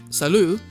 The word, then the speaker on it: salut: is it's si lut I'm pretty sure the T is silent salut is the informal way